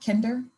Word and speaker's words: Kinder: to dr ashley kinder kinder i might have butchered your last name kinder it's good there we go thanks so